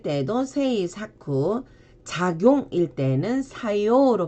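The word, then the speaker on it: 作用: 작품일 때는 사쿠힝으로 발음을 해주시고 제작일 때도 세이 사쿠, 작용일 때는 사요로 발음을 합니다.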